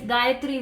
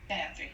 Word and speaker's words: Gayatri: Yeah, so I don't want to, Gayatri, is that how you say your name? I just want to make sure I'm saying it correctly. Please feel free to correct me if I'm wrong. Sorry, I was talking on mute. Yes, Gayatri is correct.